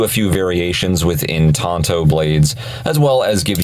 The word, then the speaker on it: tanto: research it turns out Tonto actually is the correct pronunciation traditionally that is how you would say it in Japan which is where the